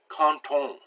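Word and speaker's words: quand on: word for one, but we would say canton. We would make that D pronounced like a T. So that's what the liaison is.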